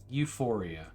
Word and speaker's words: Ufouria: Euphoria. Not sex euphoria. Oh, sorry. It's spelled Ufouria. Oh. There you go. That is Saga 2. not at all how I would have ever spelled that.